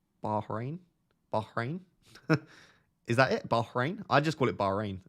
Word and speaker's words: Bahrain: threes in 10 minutes when you pronounce Bahrain you should pronounce the h it's not like Brighton rain Bahrain Bahrain is that it